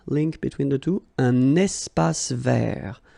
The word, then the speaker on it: espace vert: Un espace vert. First thing, you've got this little link between the two. Un espace vert. Final not pronounced, and then final T not pronounced. Un espace vert.